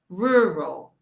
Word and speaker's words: rural: you can get it practice the r sound huh rural rural oh how my boat my mouse gets i'm gonna do it's rural when i teach my students i tell them to push their mouth out rural rural okay rural